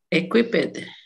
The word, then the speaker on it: equipped: como no termina ni en T ni en D, no se pronuncia el ED como tal, sino solo se le pone una D, se acentúa. Entonces, ¿cómo sería equip y le pones una D? Equip, equipped, No, no le pronuncia la E, solo la D, la D.